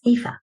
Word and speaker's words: Aoife: Her name is Aoife. That's like Eva, but with an F, and it's spelled Aoife.